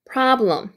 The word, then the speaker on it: problem: have have 이렇게 되고요 PR 까지가 프라 라라고 있는데 아의 발음기호에 강세 표시 있기 때문에 프의 강세 주시고요 그다음에 블럼 L 바람이기 때문에 블루 할 때 천장으로 혀를 올리면서 블루 블럼 블럼 problem problem 이렇게 되죠 그다음에